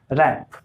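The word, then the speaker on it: wrap: रैप, रैप में कहीं W आपको दिखाई दे रहा है, लिखने में दिखाई देता है, लेकिन जब प्रोनाउंसिएशन करते हैं, जब उच्चारण करते हैं तो उसमें W का सेंस नहीं आता है, यानी कि W चुप हो जाता है, शांत हो जाता है।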